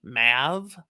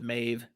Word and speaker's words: Maeve: difference in pronunciation here i've always said maeve as some might say mav but i got queen mab so i don't like mav right there i go with mave it makes more sense